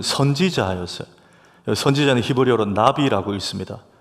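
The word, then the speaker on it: נביא: 선지자는 히브리어로 나비라고 읽습니다.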